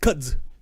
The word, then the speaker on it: kudzu: I think it's pronounced kudzu.